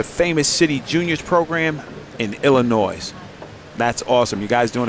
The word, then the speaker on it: Illinois: The S is silent. Oh, Illinois.